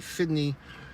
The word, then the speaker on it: FDNY: New York FD y FDNY fitney I've never heard him say it like that but he says that in the movie fitney and he's got this